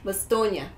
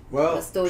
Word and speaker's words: Bastogne: How is it in French? Bastogne. Okay. But I'm probably not pronouncing it 100%, but it's the G and E is like an N, like Bastogne.